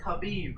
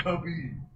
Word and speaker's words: Habib: It's Habib, right? Yeah, with the H. Hold my on. God, she said, There's something else going on right now. Hold on. Cody, it's Habib.